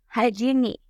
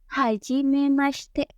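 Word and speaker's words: はじめまして: Mei tetap dibaca mie bukan mi ya hajini Bukan ya tapi seharusnya hajimi lalu selanjutnya huruf q yang ada di akhir itu bukan dihilangkan tapi samar terdengar jadi ada tapi tidak jelas terdengarnya maka pengucapan yang tepat pada saat mengucapkan kata ini adalah haji memaste Apa sih arti dari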